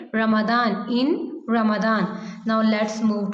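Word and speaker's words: Ramadan: में रोजे रखते हैं रमजान में इंग्लिश में हम इसको क्या प्रोनाउंस करेंगे रमदान इन रमदान नाउ लेट्स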